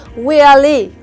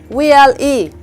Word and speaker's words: VLE: Usually stress is put in the last letter of any abbreviation. For example, VLA, VLE, VLE.